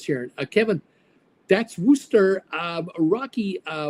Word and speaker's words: Worcester: Uh pronounced Worooster. uh says here uh Kevin that's Worster um Rocky uh Warchester Warchester Worcester Ro Richard watch your sister sauce